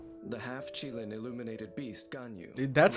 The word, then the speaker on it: Ganyu: High Pavilion secretary the half Chilean illuminated Beast gun you that's how you say it most crucial matters